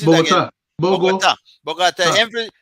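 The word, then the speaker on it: Bogotá: Bogota. ah, The emphasis is on the last syllable.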